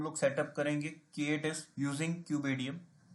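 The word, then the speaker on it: kubeadm: कई लोग बोलते हैं क्यूब एडीएम, कई बोलते हैं cube admin. So usually cube एडीएम हम लोग जनरली प्रोनाउंस करते हैं, जो कि बेसिकली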